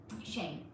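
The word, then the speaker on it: Shein: Shane. That's how it's pronounced.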